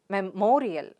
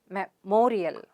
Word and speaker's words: memorial: fourth word is memorial so again words ending with the suffix ial have stress on the syllable preceding the suffix so what's the suffix ial let me mark it for you and what's a syllable before ial it's mor so where does the stress fall the stress is on me sound there so it's memorial memorial get it repeat it